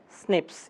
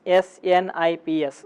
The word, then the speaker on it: SNPs: it is represented by snips s n IPS single nucleotide polymorphism so open snps however once again abbreviation it is snps however while pronunciation it is represented as snips one of the important